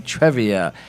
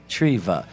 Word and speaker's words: Treva: I keep saying Trevia. It's Treva. Treva. Treva.